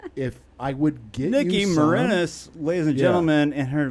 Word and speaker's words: Marinis: I don't personally own any, but if I would get Niki Marinis, ladies and gentlemen, and her last name, Marinis. I told you it's Marinis like penis.